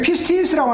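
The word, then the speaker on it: πίστις: 여기 피스티스라고 하는, 제가 영어로 이렇게 여기 PISTIS라고 적어놓은 것은 사실은 피스티가 E를 영어로 E를 더 넣어주는 게 좋아요. 피에라고 발음을 안 치면 E를 발음하는 것 같은 그런 기분으로 하는 거예요. 그러니까 피스티스.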